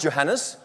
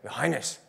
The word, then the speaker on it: Johannes: johannes can you pronounce johannes try and say it yeah that's nice so some people have very difficult time doing this some people actually say your highness so to me of